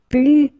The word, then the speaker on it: plus: Okay, so you can see that I don't pronounce the final S.